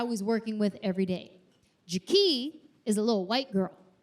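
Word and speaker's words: Ja-Kee': Her name is Jak. Not Jackie. Jie.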